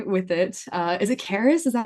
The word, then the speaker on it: Carys: Uh, is it Caris? Is that how you say your name? Yes. Yeah, you pronounce it right first time.